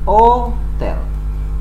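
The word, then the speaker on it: hôtel: karena adalah bahasa Perancis huruf H atau grup ask your berusaha dalam bahasa Perancis disebut ask itu tidak diucapkan walaupun dituliskan maka Hai Hotel itu dibacanya adalah oh tell kota dia menggunakan artikel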